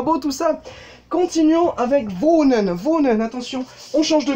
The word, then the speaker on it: wohnen: Wohnen, ça veut dire habiter. Ich wohne, du wohnst, er wohnt, wir wohnen, ihr wohnt, sie wohnen. Avec un O un petit peu plus long au niveau de la prononciation.